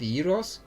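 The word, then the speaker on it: gyros: Geros. That's probably that's probably what Americans think Alexander the Great did cuz I think that's what how Greeks pronounce it. Yos.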